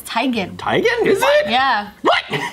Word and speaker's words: Teigen: Well, it's just like Chrissy Teigen, it's Teigen.